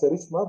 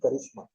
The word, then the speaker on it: charisma: That is karishma or cherishma. People pronounce it as charishma but it is originally karishma.